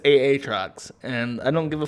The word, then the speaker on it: Aatrox: how it's fucking written if they didn't want it to be pronounced aatrox it wouldn't have two fucking a's in it it would just be a or a y instead it's aa trucks and i don't give